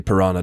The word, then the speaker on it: Piranha: It's pronounced like piranha.